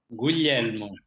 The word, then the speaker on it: Guglielmo: Guglielmo. Guglielmo. It's like Guillaume or William.